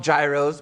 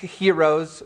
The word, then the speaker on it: gyros: Some people call them gyros, but gyros for those who at least tried to do it the way the Greeks pronounce it.